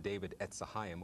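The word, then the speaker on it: David Etz Hayim: But my figure of David, and it's pronounced David Etzahayim, or David Tree of Life, my image of David is a bit unique because it is more ethnically precise.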